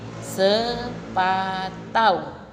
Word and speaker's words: sepatu: pengucapannya jadi selambau Hai ada lagi sepatu Hai sepatu pengucapannya menjadi sepatau itu anak-anak yang dinamakan